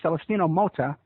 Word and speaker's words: Celestino Mota: and he's from Mexico and his name is celestino Mota am I pronouncing that right yeah that's very good